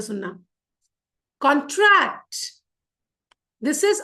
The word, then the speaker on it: contract: And here, जो पहला है CON, इसको हमने स्ट्रेस किया है. कॉन्ट्रैक्ट. अब ध्यान से सुनना. कॉन्ट्रैक्ट, this is a verb. इसका मतलब कम हो जाना, कॉन्ट्रैक्ट हो जाना. कॉन्ट्रैक्ट इज a verb.